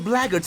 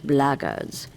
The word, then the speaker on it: Blackguards: If the Blackguards found them, there's a good chance they're keeping an eye on them. If you're another one of those blackguards, and that's the way to pronounce it, not